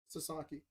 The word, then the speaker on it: Sasaki: Sasaki.